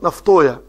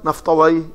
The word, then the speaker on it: نفطويه: فلما التقينا مع علماء ومشايخ كبار برا قالوا نقول عنه رهويه رهويا، نفطويه نفطويا، سيبويه سيبويا. هذا عند أهل الحديث، لكن في اللغة العربية سيبويه نفطويه وهكذا.